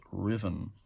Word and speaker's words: Ruthven: Old Collins Tomes, Clifton Hill, otherwise known as Riven, spelt Ruthven, but pronounced Riven.